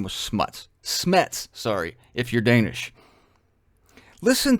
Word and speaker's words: Smuts: His name is spelled S-M-U-T-S, which I think is hilarious. It's pronounced Smets, I think. It's Danish. Not real clear on the pronunciation, except I like to say Smuts.